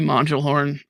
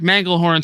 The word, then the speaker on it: Manglehorn: want to bounce probably Mel horn honestly here mangle horn sorry sorry sorry no alternate pronunciations manglehorn I'd probably bounce manglehorn here